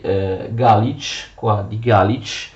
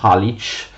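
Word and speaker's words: Галич: La Galizia peraltro era così chiamata per via della città di Galić, che gli ucraini pronunciano Halič, che sarà la sua capitale a partire dal XII secolo.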